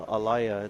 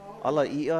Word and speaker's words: Alaia: And oftentimes people are calling the alaya. Alaia, I think, is the better pronunciation.